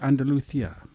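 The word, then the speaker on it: Andalucía: is a track called andalusia andalusia and actually is pronounced andalucia yes if you're if you're from spain yes well um it's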